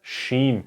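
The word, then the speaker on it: שין: not so hard like the s h sound like in shy or the sun is shining okay and then there's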